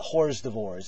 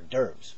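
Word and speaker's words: hors d'oeuvres: uh you know ask you to pass the hores devores at parties there or derves by the way so anyway why a gray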